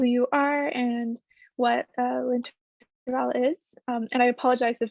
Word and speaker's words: L'Intervalle: saying the name incorrectly that's okay it's linter Val and and it is sometimes a little difficult to pronounce but you did really well so yes my name